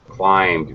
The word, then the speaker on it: climbed: yeah you got it climbed very good thank you for pronouncing it correctly do not pronounce the b excellent excellent thiago how